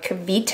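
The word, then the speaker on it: Kevita: i love this stuff it's called um kavita i think that's the way you pronounce it it's a probiotic drink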